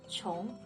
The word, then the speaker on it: 穷: Now, we have qi plus yu plus ng, which makes a very interesting sound, 穷, which in the second tone means poor.